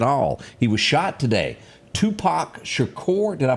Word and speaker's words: Tupac Shakur: Tupac Shakur, did I pronounce that right?